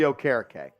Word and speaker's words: Okereke: It's Bobby Okereke.